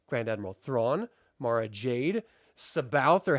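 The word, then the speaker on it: C'baoth: I've always said Caboth because it's C. So it's not. It's Sabaoth. That's bullshit. Yeah, that's how it was spelled out phonetically, and that's how Zahn explained it.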